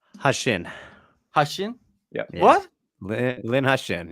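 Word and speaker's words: Heqin: Malikin? Hashin.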